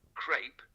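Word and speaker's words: crêpe: a bit more common crepe tends to be heard a bit more especially in American English however crep is still perfectly correct and closer to the French origin so if you want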